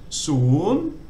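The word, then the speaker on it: ศูนย์: So soon, it means 0.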